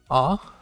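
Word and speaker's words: あ: middle of the kana ah pronounced like par or ah and awful ah in the column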